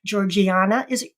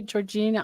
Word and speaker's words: Georgiana: with the main character, Georgiana. How do you say her name? Georgina? Yeah, Georgiana. Yeah. Georgiana. And some people say Georgina. I mean, in England, they would say Georgiana.